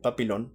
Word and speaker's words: Papillon: En francés, según yo recuerdo, se pronuncia, perdón, Papillon, pero se escribe en español Papillon.